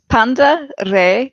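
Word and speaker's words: πάντα ρει: please absolutely it says Panda re okay is how you pronounce in modern Greek that is beautiful thank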